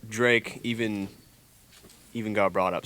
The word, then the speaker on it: Jrake: that's how it's pronounced I promise you it's pronounced Drake not J Racor Drake click the rapper you guys would be surprised